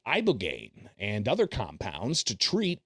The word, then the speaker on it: ibogaine: And veterans with traumatic brain injuries underwent, it's called ibogaine treatment. Ibogaine. Remember the name. Is that pronounced relatively properly, would you say?